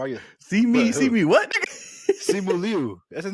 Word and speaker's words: Simu Liu: Simu Liu. That's his name, right? Shang-Chi? It's just Simu Liu, nigga. This nigga said Liu. Simu Liu. Okay. It's spelled L-I-U, so that kind of messed me up.